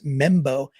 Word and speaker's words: Mbow: All right, so this guy, Marcus Embo, you pronounce it just like it spells it, MBOW. So right tackle from Purdue, again, projection that he could go into guard. And the thing about Embo is he's going to